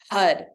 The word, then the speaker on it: Har: chant the Mantra HUD HUD is spelled h-a-r HUD the r sound you want to stop at the top of the mouth like so so it sounds like a d but it's actually an R uh that's all we're